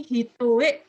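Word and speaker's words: 単: Ini hitoe desu ne, ya ini bacanya hitoe ya.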